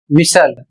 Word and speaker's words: whistle: अगला शब्द है डब्ल्यू एच आई एस टी एल ई और इसे पढ़ा जाएगा विसल।